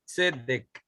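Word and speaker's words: צדק: Dice, se dice tzedek, tzedek, así se dice, tzedek.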